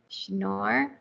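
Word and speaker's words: Schnorr: it improves scalability because it uses something called snore signatures no signatures yes yes correct okay pronouncing it well um so that what it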